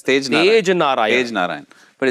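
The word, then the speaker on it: Tagenarine: Tej or Tage? Tej Narayan, no? Tej Narayan. Well, it's spelled Tag Narayan, but I'm sure it's Tej Narayan.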